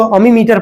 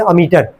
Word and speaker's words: ammeter: Spelling लिख रहे हैं यहाँ पे हम, कई लोग इसको अमीमीटर पढ़ते हैं, लेकिन इसको पढ़ोगे साथ में अमीटर, AMMETER, अमीटर।